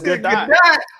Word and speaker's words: Gadot: That's how you pronounce It's the name really Gadot. It's Gadot.